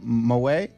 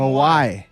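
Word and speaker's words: Mawae: It's Kevin Mawai. But Oh, why? Kevin Mawai.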